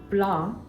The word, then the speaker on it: blanc: Blanc in French ends with the letter C that is silent.